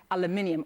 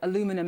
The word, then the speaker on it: aluminium: at this point to the steel and aluminium or aluminum as you Americans say. You aluminum I still need to get used to that word.